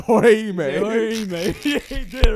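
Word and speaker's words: Orihime: Nigga, it's Oihime.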